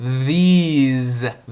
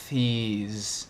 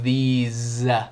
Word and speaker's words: these: Nota a pronúncia com Z aqui. These, those. E o TH também é vozeado, não é these. É these, those. Quase faz cocegas na boca quando falado devagar. These.